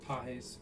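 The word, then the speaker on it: Pages: Pajes.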